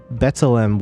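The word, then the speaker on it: B'Tselem: Uh OB24 said, "Wham, you pronounced uh Betselm well. The only issue was the accent is on the first E."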